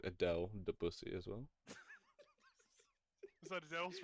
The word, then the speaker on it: Debussy: Um, it's Debussy, not Debussy. No, It's Debussy. It's spelled D.